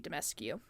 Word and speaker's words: Dimitrescu: My only issue with all of the horny people about Lady Dimitrescu, because I think that's how you say her name.